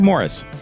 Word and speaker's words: Maurice: Barry, Robin, and Morris Gibb. Yeah, that third brother, the one whose name looks like Maurice. It's actually pronounced Morris.